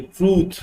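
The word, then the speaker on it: truth: ट्रूथ नहीं होता है, छोटे यू की मात्रा नहीं होती, लंबी यू साउंड होती है। ट्रूथ, क्या बोलेंगे हम?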